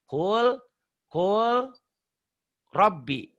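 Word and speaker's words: قُلْ رَبِّ: Ini kan huruf mati ketemu huruf bertasydid.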